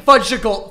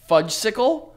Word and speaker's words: Fudgsicle: am here yeah this is my second budgetable fudgesicle do you want to try it again i second my my second fudgical fud yo what the is